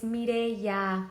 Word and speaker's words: Mireya: It's also been like 8 years and he still pronounces my name with like a Turkish accent. I'm like, it's Mireya.